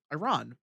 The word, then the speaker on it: Iran: Just call it Iran. It's Iran. It's Iran. Iran. It's like the song. Technically pronounced Iran, but the I don't care. The Americans pronounce it correctly. It's Iran and Iraq. I don't want to hear any other. That's a good one.